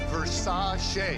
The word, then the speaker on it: Versace: Pronounced Versace.